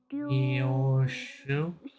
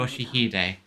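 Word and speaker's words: 良秀: Ryoshu? 아니. No, 그 글자는 그렇게 읽는 that's 게 not 아니라 how you read those letters. 요시히데라고 읽는 거다. Yoshihide.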